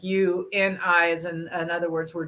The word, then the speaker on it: UINI: Yes, yeah, it's spelled UINI, but it's really like you and I, as in other words, we're doing things together with other people.